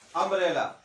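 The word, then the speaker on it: umbrella: आ रहा है, क्या, अम्ब्रेला। यू का प्रोनाउंसिएशन क्या आ रहा, अम्ब्रेला आ रहा, आ से आ रहा है।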